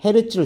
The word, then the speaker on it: 헤르츠: 진동수의 단위는 헤르츠를 써요. 헤르츠. 헤르츠라고 읽어요.